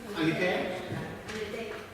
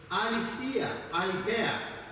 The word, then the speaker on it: aletheia: How do you pronounce it? Aletheia?